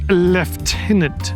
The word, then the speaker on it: lieutenant: Uh, it's pronounced left tenant governor, but there's no F.